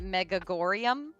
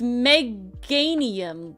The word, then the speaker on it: Meganium: manium me germanium however you say it I pronounce it megag gorum is that is that that one I thought it was Germania is that the middle one I'm thinking of no that's bay leaf it's Meganium like it's like a geranium Meganium it auto